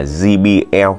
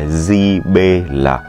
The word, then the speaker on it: JBL: Các bác miền Nam đọc là JBL, đó là cách phát âm chuẩn về tiếng Anh. Còn anh em miền Bắc chúng tôi quen gọi theo cách đánh vần là JBL.